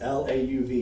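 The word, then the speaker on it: Lauv: don't know how you say his name it's lau v you can look him up and it's a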